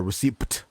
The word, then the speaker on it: receipt: spell it receipt yeah receipt receipt why is the like why is it spelled like that we say it like is there's no p yeah yeah receipt um